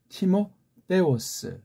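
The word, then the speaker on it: Τιμόθεος: 우리 디모데가 이게 우리 보면은 이제 그 미국 발음으로 뭐 티모테 그럽니까? 예. 티모데 헬렌 말로는 티모데오스 그렇죠?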